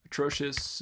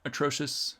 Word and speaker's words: atrocious: before i did that atrocious okay yeah it's not an s there um something like that atrocious maybe have a different vowel here at the tail end and the unstressed syllable but it's a schwa at the beginning right how about america